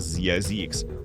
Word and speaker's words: Zzyzx: Yes, that's a real place pronounced Zay-zix, though many fumble it.